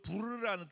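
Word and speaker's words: פור: 그게 제비를 뽑았다라는 제비라는 뜻이 히브리어로 부르라는 뜻이에요. 부르. 발음이 부르.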